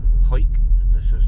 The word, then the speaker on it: Hawick: we've arrived in hike when you read it it looks like hawick but uh it's pronounced hike and this is like